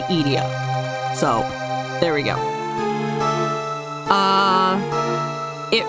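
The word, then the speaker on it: Edea: Also, I'm aware that some people pronounce it Idea or Idea or whatever. I pronounce it Idia.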